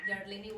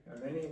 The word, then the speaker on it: Yareni: Nobody can pronounce her name. Yarleni was. Yareni was. Yarleni is another student.